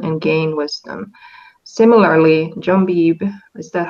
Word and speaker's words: Beebe: Similarly, John Beebe, is that how you pronounce yep. it? Yep, Beebe.